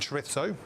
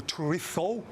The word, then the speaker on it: chorizo: I love red onion and chorizo. Or chorizo, if you're going to say it correctly.